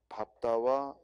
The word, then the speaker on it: 밟다: 3번 리을 비읍의 예외로 즉 밟다와 넙죽하다의 경우는 뒤에 자음을 선택한다. 설명도 맞고 그리고 밟다와 넓적하다 발음도 맞죠. 리을 비읍은 원래 리을이 원칙인데 이 밟다 그리고 넓적하다, 넙죽하다, 넙둥글다는 비읍으로 발음합니다.